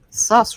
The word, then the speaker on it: Sass: Sass rhymes with ass, just saying from Lurkland.